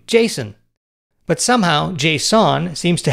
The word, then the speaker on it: JSON: promoted the json format says it's pronounced like the name jason but somehow json seems